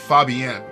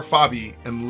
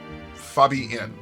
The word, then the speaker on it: Fabienne: I think her name is pronounced Fabienne. Oh, okay. So it's more Fabi and less N, as opposed to Fabian. Fabienne. Okay.